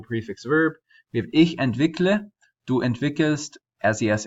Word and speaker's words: entwickle: highlighted is because we did not add the E between the K and the L. You can technically, but I would say that this form, entwickle, is more preferred because it has one fewer syllable. So instead of entwickele.